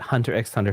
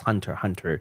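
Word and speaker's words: Hunter × Hunter: It's probably cross, but like, yeah, I've always said Hunter x Hunter for the longest time until like someone corrected me. It's like, actually, it's Hunter x Hunter. The X is not pronounced.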